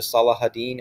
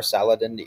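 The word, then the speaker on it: Salah ad-Din: to regroup especially under Salah haddin or Saladin you might hear his name pronounced differently depending on who you talk to but Salah Hadid is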